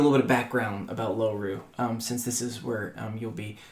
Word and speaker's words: Loru: It's spelled like four letters. Really simple. L O R U um Lom Ru